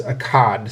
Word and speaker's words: Akkad: of the city of it's spelled Aad here, but uh more commonly known I think as Akad.